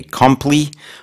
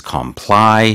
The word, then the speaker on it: comply: I think sometimes might People, if they're unfamiliar, they might mistakenly say compli, but it is comply.